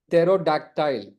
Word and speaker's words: pterodactyl: అంటే పెట్రోడాక్టైల్ అంటే pterodactyl, ptero, p is silent, pterodactyl. అంటే pterodactyl ఇది పాత రకం డైనోసార్ ఏజ్ లో ఉండేది.